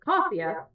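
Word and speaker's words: Casia: how that is because the way my name is said is CIA and the way it's spelled is c a s i a and I don't know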